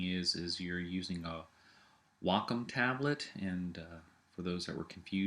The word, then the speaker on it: Wacom: is you're using a Wacom tablet and uh for those that were confused that is the correct uh pronun pronunciation of it it is Wacom and uh what it